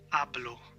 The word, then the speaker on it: hablo: is they Sayo hablo because it starts with an H so people logically think it's ha but in Spanish it's not in Spanish it's ablo ablo so the H is mute it's ablo and it's not ablo it's